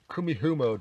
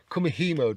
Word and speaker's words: kumihimo: going to do it on one of these kumihumo discs kumihimo this I always get the pronunciation wrong on that one you might have